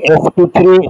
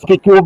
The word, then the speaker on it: sp3: এই sp3 আমরা উচ্চারণ করবো কিন্তু sp কিউব না, কিন্তু লিখবো এরকম করেই, 3টা পাওয়ারে যাবে।